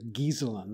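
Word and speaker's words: Ghiselin: Well, one very early influence on me was reading a book by a man named Brewster Gieselin, that's spelled G-H.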